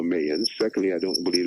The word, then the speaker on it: Mayans: prophecy of the so-called Mayas, which I do not believe it, by the way. Let me put my 1 cent in there. I believe it's pronounced, first of all, Mayans.